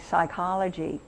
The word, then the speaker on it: psychology: Or like, if you have a silent P at the beginning of a word like psychology, it's Greek.